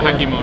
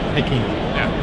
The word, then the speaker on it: Hakimo: Yeah, Hakimo. Hakimo? Yeah. Hakimo. Yeah. It's equal stress on both syllables, but yeah.